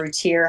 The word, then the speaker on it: Routier: Routier, how you say her name.